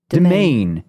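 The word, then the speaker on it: demesne: parody of tough guys most people haven't heard demen be pronounced I looked this up once I'm I'm going to double check I have it right demen yeah domain sorry it's a domain because it used to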